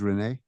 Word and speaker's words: Renee: For the record, you're saying that your name is properly pronounced as Renee? Yes.